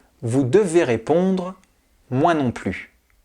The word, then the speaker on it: plus: devez répondre moi non plus attention le S de plus est muet il ne se prononce pas exemple je ne connais